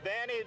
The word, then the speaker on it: Vianney: Louis Vianney, I think I'm pronouncing that right, Vianney.